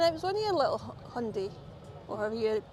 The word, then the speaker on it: Hyundai: So yeah, Hyundai is how they taught me to say it.